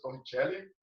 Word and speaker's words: Torricelli: A pronúncia Torricelli, evangelista Torricelli, mas a gente pronuncia, né?